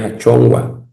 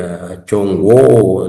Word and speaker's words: achongua: Tenemos la palabra hijo o hija, es achongua. A ver, achongua es hijo o hija. No se dice achongo, no. Es una sola, achongua.